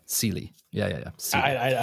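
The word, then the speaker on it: Celie: silly sely sely sely like like s Celia without the yeah cely yeah yeah yeah I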